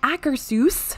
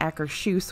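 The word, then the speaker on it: Akershus: has finally reopened over in epcot's Norway Pavilion accursus which is what I've been told is how you pronounce it not Acker shoes which I did for a long time not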